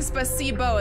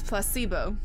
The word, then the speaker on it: placebo: Well, normally I was saying spacesbo and then I I could picture the picture it in my head. I'm like I'm pretty sure I've been saying it wrong for a very long time. It's placebo. Thank you.